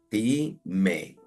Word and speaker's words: time: tiempo que se escribe Dime como la partirían ti me la es muda la primera es una sílaba abierta porque termina en vocal decimos Time Time y existen estas otras